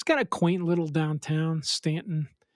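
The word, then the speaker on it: Staunton: a quaint little downtown Stanton. It's it's pronounced Stanton.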